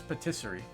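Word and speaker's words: pâtisserie: it's it's so it's Patisserie okay so I guess the uh a with the hat is an a sound interesting I refriended Fran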